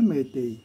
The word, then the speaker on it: Meitei: अगर इसमें से आर साइलेंट हो जाए, आर अगर निकल जाए तो ये बन जाता है मैतेई।